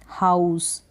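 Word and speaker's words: house: Next है ह आउ स, हाउस। लास्ट में ई को आप प्रोनाउंस नहीं करेंगे, एस के लिए हम स प्रोनाउंस कर रहे हैं एस को हम।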